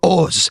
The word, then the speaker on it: Oz: They came here and they're like, "You're Oz." Cuz that's how you say it in Hebrew.